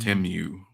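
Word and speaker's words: Temu: says what is a Teemu is this one of your primate deities that's that's hilarious I think it's actually pronounced timu that's how they actually pronounce it but you know we're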